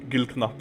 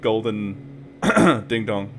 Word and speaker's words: Gullknapp: They finally told me what I was actually saying, and they were like, dude, it's actually pronounced Gullknapp. Because it's definitely not called golden ding dong.